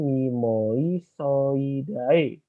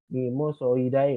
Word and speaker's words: Mimosoideae: latin contoh yang ini bacanya bukan Memories So I Die mimosoideae bukan tapi hanya itu